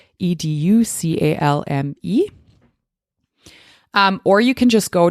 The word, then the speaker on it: educalme: And educalm, it's spelled EDUCALME.